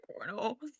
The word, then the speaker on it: colonel: It says cornal. Yeah. Why is No. Why is it spelled like that? It's spelled like colonial colonial. Wait, how's that first words? What? Dang. What? There's no R in that word.